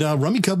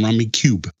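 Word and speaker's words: Rummikub: And Rummy Cub was actually the second game to ever win the Spiel des Jahres.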